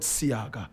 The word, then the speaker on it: Seaga: in this class we'll simply call him Edward seaga seaga is spelled s e a g a my brother